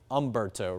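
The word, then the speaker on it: Humberto: There's an H in front of it, but the H is kind of silent.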